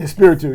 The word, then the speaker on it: Espiritu: Is that pronounced Espiritu? Espiritu.